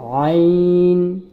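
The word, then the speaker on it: ع: এটা হচ্ছে আইন। আইনটা হা, আইন একই মাখরাজ থেকে উচ্চারণ হয়। আইনটা হায়ের মতোই একই মাখরাজ থেকে উচ্চারণ হয়, অর্থাৎ গলার ভিতর নিয়ে একটু চাপিয়ে। আইন, আইন বলবো না, আইন বললে ভুল হবে।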